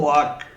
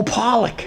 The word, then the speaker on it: pollock: We're going to have uh I never heard Pock. That's how you say it. Pock and I It's fish. Oh, Pollock. Pollock. There we go. Pollock. I thought it was pock.